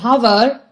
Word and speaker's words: hour: For words like honor, honest, and hour, we use an because in these words H is silent.